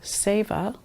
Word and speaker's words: Seva: This protocol is called Seva. It is spelled S-E-V-A.